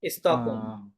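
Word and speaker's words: Stockholm: দেন অম্বাসাদ অম্বাসাদ দো ফন্স এ আ, স্টক স্টকহোম, স্টকহোম, স্টকহোম এইটা silent আছে।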